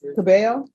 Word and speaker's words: Cabello: All right, and are you Miss Cabello? Yes. Am I pronouncing your last name right? Yes. Thank you. The double L's always throw me off.